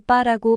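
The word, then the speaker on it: 八: 띠와 상생 관계를 형성합니다 숫자 8은 중국어로 빠라고 발음되는데 빠는 돈을 벌다 대박이 나다라 뜻을 가지고 있는 단어와 유사한 발음이라 중국인들이 제일 좋아하는 숫자라고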